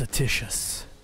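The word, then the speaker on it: Atticus: My name is Atitius. Oh, that's how you pronounce it. I've been saying it wrong this whole time.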